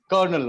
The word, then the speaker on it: colonel: हिंदी में लिखते हैं कर्नल, क नौ पे डालते हैं एक रेफ, कर्नल, कर्नल बोलते हैं. बट in English we call it only कर्नल. कर्नल, रॉ को हम प्रोनाउंस नहीं करते हैं. कर्नल, लिखने में कॉलोनल, बट बोलने में कर्नल.